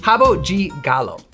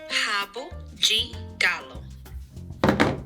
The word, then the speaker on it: Rabo de Galo: Rabo de Galo. Rabo de Galo.